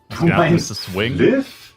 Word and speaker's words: Flyff: Fliff da spricht man doch nicht Fly aus Vollidiot. Das heißt Fliff fly for fun.